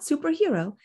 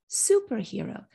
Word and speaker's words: superhero: of a set phrase superhero is a compound stressed on the first part it's not superhero it's superhero confessions of a superhero